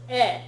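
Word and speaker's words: へ: This is spelled with the letter he, but it's written with the letter he, but it's pronounced e when it's being used as a particle.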